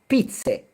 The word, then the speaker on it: pizze: So if you don't take anything from this video, don't forget this: singular pizza, plural pizze. Thank you. Spelled with an E at the end. Pizze.